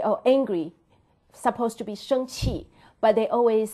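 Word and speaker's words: 生气: It's totally different from, because so everybody, my students say, oh, angry, supposed to be 生气, but they always say pronounce 生快, 生快.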